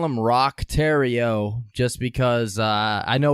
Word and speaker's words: Roch: Oh, the C is silent. Adam Sandler all over, man. I like it. Alrighty, so we're going to call him Roch Theriault just because I